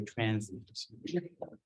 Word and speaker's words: transient: It's like two syllables, transient, which means like a transitory state, something just like we started talking about it. We say transient.